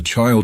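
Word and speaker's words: Chile: The child in the title and lyrics is a phonetical approximation of child, pronounced without the D, a spelling that was also used for Hendrix's song Highway Child.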